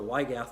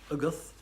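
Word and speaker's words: Y Gath: As I've told people before, the Wygath actually should be pronounced Uguth, but I'm not going to hold you to that. And it means the cat in Welsh.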